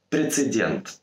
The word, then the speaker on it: прецедент: Прецедент. Так же, как и с дерматином, в слово «прецедент» часто вставляют лишнюю букву «Н», произнося это как «прецедент». Проверить это тоже нельзя, поэтому мы просто запоминаем. Прецедент. Никакой «Н».